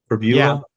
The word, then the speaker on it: Pribula: Quarterback Bo Pribula, is that how you say his name? Pribula? Yeah. Yes, that's it.